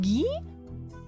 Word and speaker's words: Guy: Guy as a named is pronounced ghee.